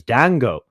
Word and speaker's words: Dango: I actually want to apologize to one of our speakers, Dango. The D is silent. No, it's not silent.